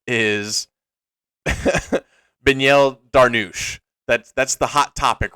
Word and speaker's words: Beneil Dariush: Yeah, I could just be getting on your ass about pronouncing his name. Beneil Dariush.